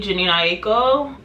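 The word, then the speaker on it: Jhené: talking about why he doesn't want to marry Jano that's how you pronounce her name uh he was doing like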